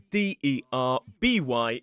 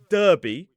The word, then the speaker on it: Derby: And also with Derby, it is D-E-R-B-Y. It is not Derby, which would probably make more sense.